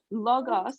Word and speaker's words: logos: or something uh yes so that's a logo but logos and i i said it wrong so logos is l-o-g-o-s okay and that is